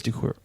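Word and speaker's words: Decuir: and an engineer named joe cure to cure i think it's decor d-e-c-u-i-r it's a neat name you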